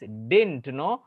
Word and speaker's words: didn't: See, whenever you speak this didn't, no need to sound the letter D again.